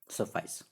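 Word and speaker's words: suffice: ठीक है, सफाइस। Okay, जिस प्रकार से हम लोग ट्वाइस का उच्चारण करते हैं उसी तरह से ट्वाइस आइस एक जैसा आवाज निकल रहा है।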